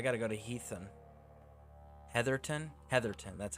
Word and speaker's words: Heatherton: Heatherton, that's how that's pronounced.